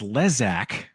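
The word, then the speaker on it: Lezak: Apparently, it's pronounced Lesac, at least according to Wikipedia. So, it's Jason Leesac Gellof.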